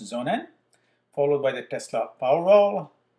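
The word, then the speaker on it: sonnen: to cover today are the zonan yes that's pronounced zonan followed by the tesla powerwall the electric then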